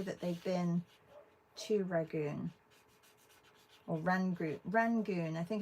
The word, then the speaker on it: Rangoon: And I don't know who posted this, that they've been to Rangoon, because Rangoon rhymes with June.